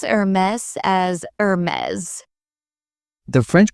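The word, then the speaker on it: Hermès: Some pronounce Hermes as Hermes. The French pronunciation is Hermes with a softer tone.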